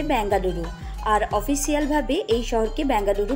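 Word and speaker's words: ಬೆಂಗಳೂರು: কন্নড় ভাষাতে এর উচ্চারণ হচ্ছে বেঙ্গালুরু, আর অফিসিয়ালভাবে এই শহরকে বেঙ্গালুরু বলা হয়।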